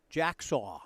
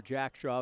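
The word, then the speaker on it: Jacksaw: one and one Jaden Jack saw the batter it's a good sounding name but they told me even though it looks like it should be jacksa or Jack Shaw whether it's pronounced Jack saw the at least coach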